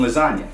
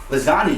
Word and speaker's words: lasagna: Anya what's silent in lasagna the letter G is so real G's right so the G in lasagna is silent so real G's move